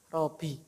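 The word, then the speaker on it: رَبِّيَ: itu Robi Mbaknya itu bapak tasydid ini hati-hati ya kadang-kadang kita itu ya bacanya Joe Subhana Robby Subhana rabbial ingat pokoknya itu adalah di apa ditasydid Subhanallah wabi al-alim sama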